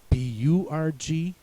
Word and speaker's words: Burg: In German it's not so difficult because in German the U makes the U sound, so Germans would say Burg, and the E makes the A sound, so Germans would say Berg. Burg and Berg do not